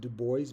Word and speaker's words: Du Bois: a big deal um I say du because I grew up learning French and speaking France and so I'm I'm honoring the language du might have pronounced his name duo or like I said I'm comparatively um i' I'm with less of that information at the moment I might have been told years ago whatever else but again um I I've pronounced it du boys before and I'll say one